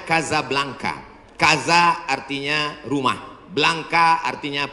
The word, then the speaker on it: Casablanca: Nama negaranya Maroko, ibu kotanya tulisannya Casablanca, cara bacanya Casablanca.